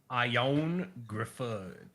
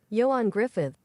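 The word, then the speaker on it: Ioan Gruffudd: Okay, I found it. Uh Yoan Griffith. Yoan Griffith. Griffith. Griffith, you say it's Griffith. What the hell? Yoan Griffith, but it's too D.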